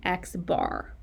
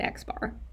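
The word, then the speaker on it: x̄: For a sample mean, we use X bar. That is how you pronounce it. It's an X with a bar over it, and we call it X bar.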